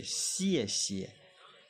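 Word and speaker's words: 谢谢: été gentil avec nous, merci en chinois c'est xie xie, xie xie, xie xie. Comme ça s'écrit, vous prononcez après moi.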